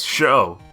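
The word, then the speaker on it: Chaud: his name is spelled guess how you say it nope it's sho it's the french word for hot which is how the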